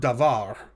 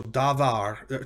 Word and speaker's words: davar: shava so for example the word davar means word or thing or matter and you'll notice it's two syllables da and var and the accent is on the second of the two so davar sorry davar right davar